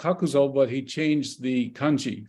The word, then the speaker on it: Kakuzo: By the way, I should add at this point that Kakuzo, his father was a businessman, and Kakuzo means something like the corner warehouse.